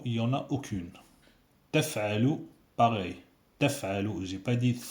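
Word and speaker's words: تفعلوا: Taf'alu, c'est pas thaf'alu. Taf'alu.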